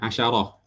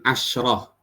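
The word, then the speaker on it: عشرة: Nah, ini faedah di sini, asyarah dibacanya sinnya di sini ada harakatnya, asyarah. Ya, bukan asyrah.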